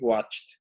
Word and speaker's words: watched: Anoche vimos una película, we watched, que suena esa D, para que se entienda.